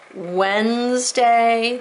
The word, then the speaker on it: Wednesday: Wednesday, that's a tricky one. It's got 3 vowels, 2 syllables.